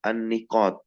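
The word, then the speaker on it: النقاط: Nah, wa yashtamilu ala an-niqat. Ini bacanya apa? An-niqat. Nunnya di kasrah, dia bentuk jamak dari apa?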